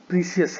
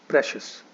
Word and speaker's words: precious: वो बोलते हैं बहुत प्रीसियस है, जो कि गलत प्रोनाउंसिएशन है इस वर्ड का. इस वर्ड का सही प्रोनाउंसिएशन है प्रेशियस. इट इज प्रेशियस, नॉट प्रीसियस और एनीथिंग एल्स.